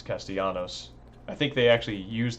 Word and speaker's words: Castellanos: It's Castellanos. I think they actually use that pronunciation in here a few times as well.